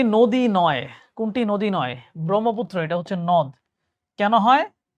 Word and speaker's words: ব্রহ্মপুত্র: ব্রহ্মপুত্র। এটা হচ্ছে নদ। কেন হয়? লাস্টে উচ্চারণ হচ্ছে ব্রহ্মপুত্র অ। আর অ লাস্টে অ উচ্চারণ হলে ওটা নদ হবে। ঠিক আছে?